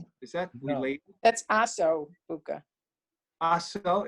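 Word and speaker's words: osso buco: Now, is that where they get, there's that meal, osa buca? Is that No. related? That's Aso Buka. Aso, it's spelled differently?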